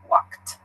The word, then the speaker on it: walked: around my neighbor would make sure to use this T sound in your pronunciation walked yeah good alright so